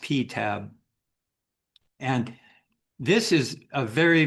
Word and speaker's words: PTAB: This is its nickname is pronounced PTAB and This is a very very interesting um source of information.